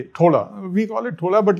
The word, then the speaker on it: थोला: ठीक है, थोला, हम इसे थोला ही कहते हैं, लेकिन हाँ , इसकी स्पेलिंग T-H-O-L-A है।